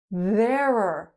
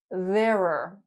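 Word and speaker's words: there're: Verer sounds like error. This one's not easy to pronounce. It's very r thereer.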